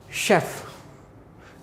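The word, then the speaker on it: chef: अब यहीं पे मैंने एक वर्ड ये लिख दिया, इसको क्या पढ़ेंगे बेटे, चेफ नहीं पढ़ेंगे इसको पढ़ेंगे शेफ।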